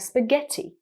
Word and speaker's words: spaghetti: We have examples of a hard G sound, like spaghetti.